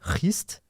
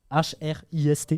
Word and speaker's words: Hrist: Et il va comprendre en rencontrant une Valkyrie, Hrist, on prononce comme ça, je sais pas. Comment H-R-I-S-T. Ouais, c'est Hrist.